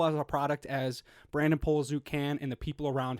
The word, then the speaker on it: Poliszuk: and as beautiful as a product as Brandon Poliszuk can and the people around him can. Yo, and hold on. Shout out for pronouncing my last name right.